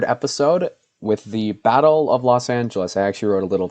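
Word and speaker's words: Los Ángeles: I also I know like in Spanish, Los Angeles is pronounced like I don't speak Spanish. Los Angeles or something like that.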